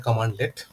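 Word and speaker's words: cmdlet: Power shell में जो भी कमांड्स हम यूज़ करते हैं उसको कहते हैं CMD लेट। मतलब इसका प्रोनाउंसिएशन होता है कमांड लेट।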